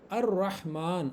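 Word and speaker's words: الرحمن: अर रहमान। अब देखिए यहां पर लाम प्रोनाउंस नहीं हो रहा। आगे शद के साथ हम पढ़ रहे हैं।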